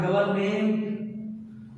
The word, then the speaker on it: government: Government, not government. This is government, development, measurement, abolishment, refreshment, achievement, arrangement, appointment, requirement, environment.